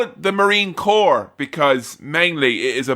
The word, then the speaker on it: Corps: know you know Marine core is not a chore You know despite what you may have heard if you pronounced it how it looks your rhyming options are limited I love Marine corpse I don't want to